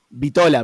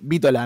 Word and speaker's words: Vítola: Yo pronuncié Vítola, pero es Vítola, ¿no? Es con acento, sí.